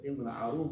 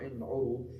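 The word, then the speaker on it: العروض: I.e., if you know how to pronounce the word, it's ilm al-arud, not ilm al-urud, it's going to be much easier, right?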